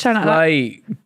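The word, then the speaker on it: sleigh: look slay s l e i g h slay boss s i g h slay you spell it right s l i g h no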